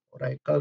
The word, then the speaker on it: Oracle: pertama adalah orator our Oracle bacanya Raikal itu kalau ada di